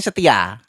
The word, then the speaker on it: ST12: Hai Sebenarnya st14 ya Oh boleh Tapi bacanya setia Satria Aa setia tapi tulisannya st14 karena si vokalis ini